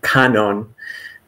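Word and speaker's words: Kannon: well and so um canon in Japanese I some PE some English speakers are more familiar with the the Chinese pronunciation guanin um but this is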